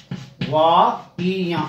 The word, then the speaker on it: दवाइयाँ: हमेशा बहुवचन बनाते समय हिंदी में ये नियम होता है कि बड़ी ई की मात्राएं हमेशा छोटी ई में चेंज हो जाती हैं। तो दवाइयाँ, इसका सही उच्चारण ये होगा, ये देखिए, यानी ई के ऊपर मात्रा नहीं आएगी बहुवचन बनाते समय, शुद्ध ये होगा।